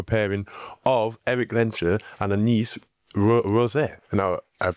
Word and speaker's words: Rosset: We've got so on this episode we have got the fantastic newcomer pairing of Éric and Anaïs Rosset. Now I've pronounced that right, haven't I?